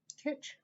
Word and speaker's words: kitsch: know why i didn't look this up before kitsch so i brought in my kitchen flamingo and